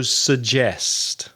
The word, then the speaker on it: suggest: Ferraris in my garages another common mistake is with suggest and the middle consonant sound is J as in January June July Jane Jesus for example so suggest suggests Reza what do you